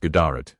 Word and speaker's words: GDRT: One of the earliest known kings was GDRT, pronounced Gdarat, who reigned in the late 2nd or early 3rd century CE.